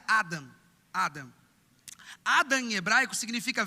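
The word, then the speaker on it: אדם: é bom significa vermelho Adão hebraico não se pronuncia Adão se pronuncia Adam Adam Adam em hebraico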